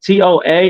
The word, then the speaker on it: Toa: Toa, T-O-A, and Samoan means warrior.